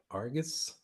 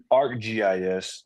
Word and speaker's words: ArcGIS: How do you pronounce that? Argus? ArcGIS.